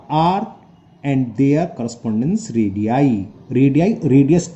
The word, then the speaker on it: radii: है रेडियाई की spelling, रेडियस का प्लूरल होता है रेडियाई, इसे बोलते हैं हम रेडियाई।